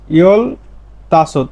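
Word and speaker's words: 열다섯: ইয়ল তাসত, এই যে এখানে তা বলছে কেন, রিউলের পরে দ্বিগুত আসলে দ্বিগুতের উচ্চারণটা ত হয়ে যায়, এই জন্য বললাম ইয়ল তাসত 15 বছর।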